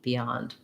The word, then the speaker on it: beyond: a little tenser b beyond um letter o says ah and beyond um it's uh typical stressed syllable o is going to be an ah vowel and then we have